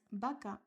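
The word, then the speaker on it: baca: So sounds B and V are the same B.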